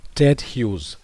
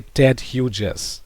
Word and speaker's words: Ted Hughes: Don't say Ted Huges. Okay. I heard many people pronouncing it Ted Hues. But this is one syllable, right? Ted Hughes. A hues. It is not dyic. It a single syllable. Okay. Ted Hughes. not Ted Huges.